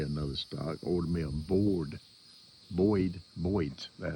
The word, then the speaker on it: Boyd's: Now, my other gun, I've ordered me another stock, ordered me a Boyd's, that's how you pronounce it, Boyd stock.